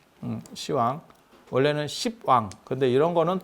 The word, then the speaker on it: 시왕: 그래서 그렇게 발음이 전화되는 경우에도 옛날 발음을 쓰는 남아있는 경우들이 있고, 시왕이라고 하는 거는 우리 발음 때문에 나타나는 거예요.